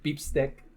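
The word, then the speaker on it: bistek: r period what so beep stick beef steak that's how Filipinos pronounce it is pronounce what beef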